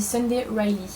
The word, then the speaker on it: Sunday Riley: Cette marque-ci j'ai trouvé comme on disait, ça se dit Sunday Riley, voilà. On est maintenant sur la bonne prononciation.